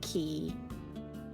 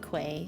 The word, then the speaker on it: quay: Ah, and it's key. I just remember being very confused by that word. Same. Where is he? That's why I said quay and then I was like that's not even how you say it.